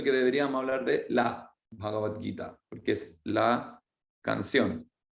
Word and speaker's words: Bhagavad: Tenemos Bhagavan, pero para hacerlo más sencillo en la pronunciación, se transforma en Bhagavad, que va a ser más fácil de pronunciar con la G posterior.